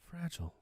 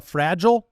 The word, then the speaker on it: fragile: Which way do you pronounce it? Are you a fragile or fragile? It's something fragile. I'm an American. Yeah. So it's fragile. Yeah. Is that the American way to say it?